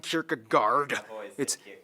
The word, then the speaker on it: Kierkegaard: Anderson philosophers that's actually hey pronounce wow it's not storing Kierkegaard or whether it's a version